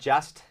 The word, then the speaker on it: just: ว่า just นะ ฮะ อย่า ลืม นะ ครับ การ ออก เสียง นะ ครับ ลืม ที่ จะ เน้น ย้ำ นะ ฮะ ให้ ชัด เวอร์ นะ ครับ ก็ คือ ซ ควบ กล้ำ ตอน ท้าย นะ ครับ Just นะ ฮะ